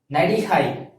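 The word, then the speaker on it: நடிகை: And by the same way, if you're an actress, you're a female actress, so you have to pronounce like Nadihai.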